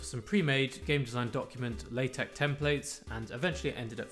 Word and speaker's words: LaTeX: final form of the A4 piece of paper latex and that is actually how you say it